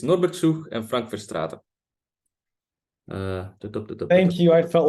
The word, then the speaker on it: Verstraete: I feel like I should maybe correct the pronunciation of some names just for their sake. So it's Norbert Schuch and Frank Verstraeten.